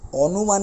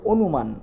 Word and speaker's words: অনুমান: অটা ও হয়ে গেছে আমরা কিন্তু অনুমান বলি না আমরা বলতে হবে অনুমান ও এর মত উচ্চারণ করি যেমন এটাও বলতে